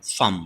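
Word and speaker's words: palm: মানে কিছু কিছু ওয়ার্ড আছে যেগুলোতে সাধারণত এল সাইলেন্ট থাকে এক্সাম্পল হিসেবে আমরা কয়েকটা ওয়ার্ড এখানে নিয়েছি যেমন খাম মানে শান্ত ফাম মানে হচ্ছে হাতের তালু এন্ড কুট মানে হচ্ছে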